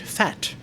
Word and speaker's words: phat: Here's a comment from Victor Rotas, who says, Phat is hip-hop slang, which is intentionally respelled and pronounced as the word fat.